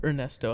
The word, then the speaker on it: Ernesto: Or Ernesto, I'm sorry. You're not supposed to pronounce the H.